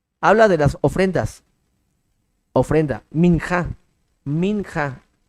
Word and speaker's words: minja: hablando del holocausto habla de las ofrendas ofrenda minja minja m i n J a minja son